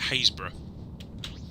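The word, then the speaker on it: Happisburgh: For instance, Norfolk, which isn't far from where I live, has a place up on the coast that is spelled Happysburg, and we pronounce it Haysborough.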